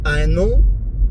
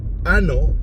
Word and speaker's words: año: In Spanish, the word ano literally means anus. So Phil didn't realize that he was actually mispronouncing the word. He should have actually said to them, Feliz Año Nuevo, instead of Feliz Ano Nuevo.